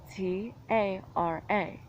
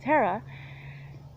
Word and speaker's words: Tara: Now if you look at phonetically, T-A-R-A. So if the A's match phonetics, and ta, ra. Okay? E doesn't come up. Why? Because it's not an E. So while you're pronouncing it like an E, I know that some people that spell it like I do pronounce it as an E. It's a completely different name. Terra.